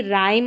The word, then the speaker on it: rhyme: फिर देखिए रूल अगला क्या है कि जब किसी वर्ड में शुरू में RH आए तब H साइलेंट रहता है, जैसे कि राइम और रिदम में है,